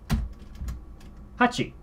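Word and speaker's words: 八: So how do you pronounce this, you might wonder? Hachi.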